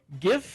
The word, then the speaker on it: GIF: GIF is pronounced with a hard G.